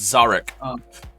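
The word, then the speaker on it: Szarekh: And today I'll be playing, I can never pronounce his first name, so I always call him the Silent King. It's Zarek.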